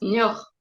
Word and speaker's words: Niort: Niort, Niort. Niort, Il faut prononcer de même.